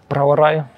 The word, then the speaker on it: Brauerei: Ihr sprecht wirklich so ein Zungenspitzen-R, so wie Menschen aus Russland oder Menschen aus Spanien. Sag doch mal das Wort Brauerei. Brauerei. Merkt ihr den Unterschied? Ich sag Brauerei und du sagst?